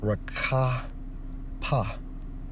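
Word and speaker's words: רחף: When we focus on moved, according to the Hebrew Strong's H7363, pronounced as rakapa, okay, which means what?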